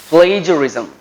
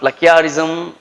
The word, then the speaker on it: plagiarism: what is the word how do we pronounce it plagiarism right it is not pluckiarism right people are going to say that uh playerism right they have different